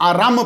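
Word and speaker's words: إرم: ये इरम जो है मशहूर प्रोनाउंसिएशन यही है, लेकिन हज़रत दहाक ने इसे आराम पढ़ा है।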